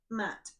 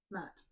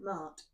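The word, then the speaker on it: Maat: About Matt, pronounced Matt. And I'm going, Mart, it's Matt.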